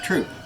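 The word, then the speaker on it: Throop: p for the record it's actually like Thompson silent h troop troop yeah thank you so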